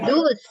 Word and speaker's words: thus: Ya, cara bacanya dus. Dus. Pakai D.